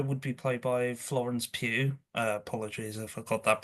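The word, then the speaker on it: Pugh: Uh, Oliver writes, "The Doctor would be played by Florence Pew." Apologies, I forgot that pronunciation.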